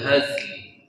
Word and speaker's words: الهزل: Kemudian wama huwa bil haz. Nah, bacanya haz, lamnya lam. Wama huwa bil hazl.